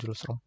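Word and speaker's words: Hjulström: Nah, gitu ya cara baca diagram julom.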